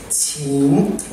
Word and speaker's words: 情: Affection in Chinese, which you pronounce qing, it means human emotions.